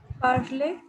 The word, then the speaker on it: parler: uh, Tanya, how to pronounce this word Parler? Parley.